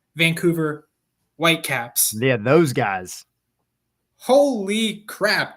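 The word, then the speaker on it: Vancouver Whitecaps: Hang on, hang on. You got to say it properly. You got to say it properly. Oh, sorry. Sorry, sorry. Supporters shield leading and very close to being conquer Champions Cup finalists, Vancouver White Caps.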